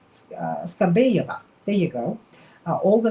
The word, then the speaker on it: Skabeyeva: Russian television anchor, I wish I could pronounce Skabeyeva, there you go, Olga Skabeyeva, who is, some people describe her as a